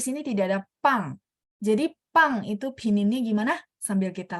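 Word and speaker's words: 棒: Jadi pang itu pininnya gimana?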